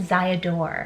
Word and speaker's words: Ziadore: So this one's actually a German pronunciation of the name. So I guess is what she's saying. In Germany, if you say your name is, they'll pronounce it like Ziadore.